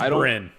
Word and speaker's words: Bryn: It's spelled that way. Yeah, I don't. It is Bryn.